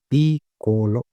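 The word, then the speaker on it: piccolo: Double C है तो को थोड़ा हार्ड रहेगा, पिकोलो, पिकोलो ये हो गया स्मॉल।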